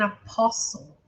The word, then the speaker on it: apostle: Called to be an apostle. Apostle, você não pronuncia essa letra T.